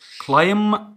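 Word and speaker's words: climb: كلايم كلايم، خلي بالك الام بعدها بي ما منطقش البي، فكلايم الماضي بتاعي كلايم د كلايم د كلايم د.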